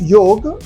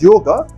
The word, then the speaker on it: yoga: knowledge series when we talk of yog which is sometimes incorrectly pronounced as yoga we really think of